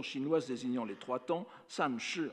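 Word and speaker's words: 三世: C'est précisément ce sens qui est mis en relief dans la locution chinoise désignant les trois temps, san shi en chinois, sanze en japonais, que la prononciation japonaise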